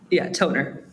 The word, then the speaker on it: Tonner: Is it Toner or Toner? How should we be pronouncing this? Toner.